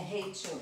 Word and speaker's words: Rachel: Essa é a Raquel ou Rachel? Porque tem duas, né? É Rachel. É Rachel. Essa daqui é Rachel. Se escreve Raquel com CH, tá?